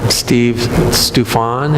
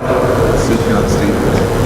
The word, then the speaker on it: Sufjan Stevens: I read something a guy wrote, I wish I could say his name, Steve Stufan, is that his name? I'm saying it wrong. It's a musical artist. What? Sufjan Stevens.